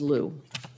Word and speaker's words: Liu: Liu. Am I pronouncing your name correctly?